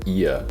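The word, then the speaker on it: Oia: sure the hike from fira to oya or ia as some pronounce it takes around four hours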